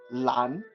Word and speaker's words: 蓝: And the color blue is 蓝, Mom. 蓝 LUN, Oh, Lan. 蓝, yeah.